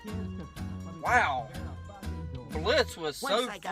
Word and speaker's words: Blitz: I'm Blitz. But O is silent.